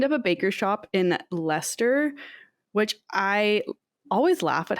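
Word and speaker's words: Leicester: a baker shop in leester which I always laugh at how Lester is pronounced because it's not written the way that it's pronounced I've see you've written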